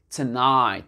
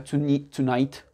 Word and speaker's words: tonight: Pas tonight. D'accord? Tonight. Et le GH, bien sûr, il n'est pas prononcé.